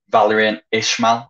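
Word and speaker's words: Valérien Ismaël: that their manager um valerian ishmael i think is the pronunciation he's been in charge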